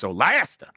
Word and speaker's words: Solasta: It got a trailer, and Solasta 2, which I think is pronounced Solasta.